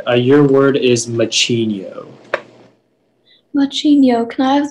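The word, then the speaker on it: macigno: region of europe machinio are there any alternate pronunciations it's just the one machinio m a c c i n i o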